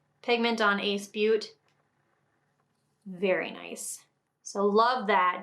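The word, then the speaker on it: Ace Beauté: This is by the brand Ace Beaute. I believe it's how it's pronounced. It might be Ace Beauty, Beauté. I usually say Ace Beaute though.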